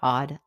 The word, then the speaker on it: AWED: Hi, I want to welcome you to the Odd Life Podcast. That's spelled AWED, which stands for Awake, Well, and Empowered.